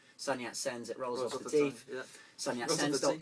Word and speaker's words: Sun Yat Sens: so it sounds like it's got three syllables son yet sends it rolls leave Sonia